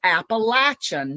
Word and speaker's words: Appalachian: in language and said and published the proper pronunciation is Appalachian Mountains.